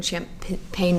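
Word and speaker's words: Champaign: but it's spelled differently. Oh, okay. Yeah. Damn. Yeah, it doesn't have like the GN. They don't need to know. Yeah, the phonetic spelling. It still sounds the same.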